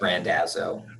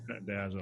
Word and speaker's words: Randazzo: I asked you before, and now I feel like I just mispronounced it. You got it. You got it correct. It's Randazzo. Randazzo.